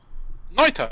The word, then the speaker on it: Noita: And I want to open on one called Noita. Is that how you pronounce it, Ray, do you think? Noita, yeah.